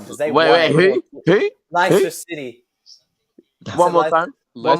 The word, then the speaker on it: Leicester: Leicester City. One more time. One more time. Leicester City. Leicester. It's pronounced Leicester. The C is silent.